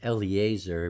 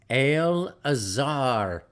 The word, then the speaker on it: Eleazar: Eliezer but no it's al-azhar eleazar's name is properly pronounced Al Azhar al apostrophe AZ AR al-azhar you could just take the e out of there and put a an apostrophe in its place these are the inheritances